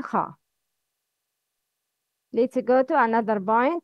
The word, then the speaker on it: خاء: Kha is always mufakham. Mufakham means heavy sound.